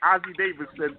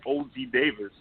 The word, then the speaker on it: Ossie Davis: then turned around yeah you trying to say Ossie Davis od Davis who mispronounces Ossie Davis